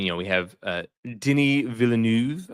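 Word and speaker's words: Denis Villeneuve: know, we have uh Denny Villanuv, I guess, is how you're supposed to pronounce his name, but I love him, you know, phenomenal director, obviously, most recently of the Dune movies.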